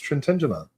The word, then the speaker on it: Trintignant: Trintignant. Trintignant. Sure. I'm going to say Trintignant. Is that proper? It's Trintignant.